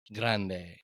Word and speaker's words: Grande: us a little bit thank you very much Grande I was doing the Gringo pronunciation but go ahead why